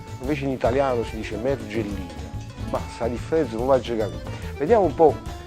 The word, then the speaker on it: Mergellina: antichi poetici erano descritto mergellina. È un errore di accento, ma si dice mergellina, pure io dico mergellina, napoletano, ma penso che sia un errore d'accento.